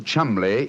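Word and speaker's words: Cholmondeley: Being an American, he had no reason to know that the name Chumli is in no way pronounced the way it is spelled.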